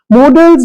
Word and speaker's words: modals: It is not models, it is modals, और modals तो बिल्कुल भी नहीं है। Please, with due respect, modals is the correct pronunciation.